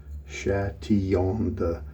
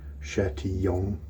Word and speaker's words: Chatillon: Chatillon, the double L's make a Y sound. Chatillon, and then Lux, when